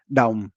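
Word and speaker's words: đồng: So in Vietnamese when we pronounce dong, we don't just say duh, but it's imploded dong.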